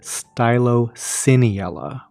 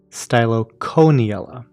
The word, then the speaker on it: Stylocoeniella: that c-o-e in the middle i call it stylociniella where the c-o-e is pronounced s-e-e as in like celocamp but i've also heard it pronounced styloconiella anyway pronunciation aside let's talk about what these